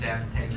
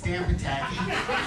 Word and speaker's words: Potacke: obviously 2010 once again up here at the damn tank show that's gotta be number one it's not damn but tanky it's damp attacking you know it's a little annoying when somebody